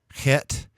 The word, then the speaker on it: Het: Het, you have sort of a guttural sound to it like Bach, and so a little sound there in the back of your throat, Het.